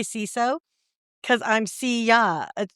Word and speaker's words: CISO: You know why I say siso? Cause I'm see ya. It rhymes with Well there you go.